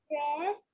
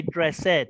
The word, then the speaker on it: dressed: josh he gets dressed very good and it's good that you said dressed because i know some some students say dress ed and that's wrong dressed is correct well done very good